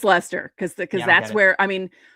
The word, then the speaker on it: Leicester: Well, that's like Leicester in England. Yeah. You think it's Leicester, and it's right. pronounced Leicester. And it's Leicester because that's where, I mean, most of the Massachusetts names are from England.